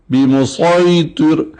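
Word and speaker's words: بمصيطر: 30ویں پارے میں ہے، یہاں پر صاد کا تلفظ لازمی ہے، بمسیطر اس طرح سے ہونا چاہیے۔ پہلا دوسرا سورہ بقرہ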